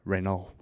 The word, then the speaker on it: Renaud: That's the correct way to pronounce it, by the way, if you want to know how to pronounce Renault. French. You just say half. You only say half the consonants and vowels, and you only say half the consonants. You barely say the vowels, and just act